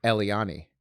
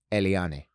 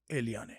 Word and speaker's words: Eliane: girlfriend's venezuelan and like i introduced her as eliani and she goes paul it's eliane and i'm like eliane eliane she goes no